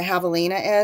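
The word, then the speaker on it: javelina: oh Karen's asking what a Havalina is so spelled with a J um and instead of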